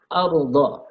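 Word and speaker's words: الأرض: Ardha. Nah, di sini ada ra sukun dibaca tafkhim, dibaca tebal.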